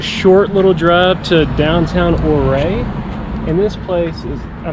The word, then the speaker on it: Ouray: Ouray is how they say it. Ouray.